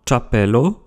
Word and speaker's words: ĉapelo: Les lettres avec les accents circonflexes se prononcent TCH, comme dans CHAPELO, chapeau, CH, comme dans